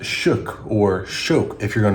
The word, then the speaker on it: Schoeck: people say it, like news outlets, they say Sheekch. Some people will say shik like I did, but then I plug it into Google and Google tells me it's pronounced shook or shook if you're going to use it